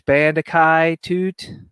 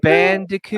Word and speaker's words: Bandicoot: are aware of the this uh uh crash Bandai toot crash how do you say this name I'm trying to read it CRA Crash Bandicoot oh my God I love it um apparently